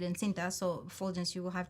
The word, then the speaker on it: encinta: Like in Spanish, I say it encinta.